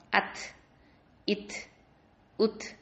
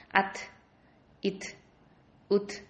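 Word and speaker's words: ث: இந்த த இருக்கு பார்த்தீங்களா, அது வந்து ஒரு லைட்டாக ஒரு தெரிக்கிற மாதிரி ஒரு sound, is இஸ் இஸ் இஸ் அப்படின்னு ஒரு விஸ்பரிங் சவுண்டு கொடுக்கணும். அத், இத், உத் அப்படின்னு ஒரு சவுண்டு வருது பார்த்தீங்களா?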